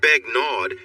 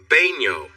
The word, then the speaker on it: Begnaud: It's not Begnaud, it's pronounced Baigno. The D? It's silent.